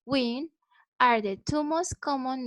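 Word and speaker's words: Nguyen: how she means and knowin pronounce win are the two most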